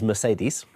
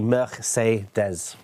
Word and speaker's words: Mercedes: so this is um what people pronounce as Mercedes okay right okay and it's actually meres meres meres yeah um